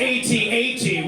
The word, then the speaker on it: AT-AT: And I gotta stop whatever I'm doing and be like, actually, it's pronounced AT-AT, which is short for All-Terrain Armored Transport.